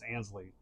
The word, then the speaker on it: Ansley: to Alexis you know it's not anley it's Ansley which is what I was